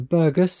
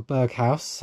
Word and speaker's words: Berghaus: Got some Burgess or Berghaus. I was corrected many times. I pronounced this wrong the other week.